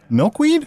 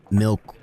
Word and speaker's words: Milkweed: We're joined by Fig, and guys, correct me if I say this wrong, Fig and Maple Milkweed?